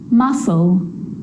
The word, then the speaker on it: muscle: few problems because it's often silent after the letter s like in these very common examples they're quite tricky muscle muscle scissors fascinate scene scenario muscle scissors fascinate scene scenario